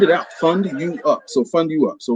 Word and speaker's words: FUNDUUP: The name of my company is Fund You Up, FUNDUUP, Fund You Up.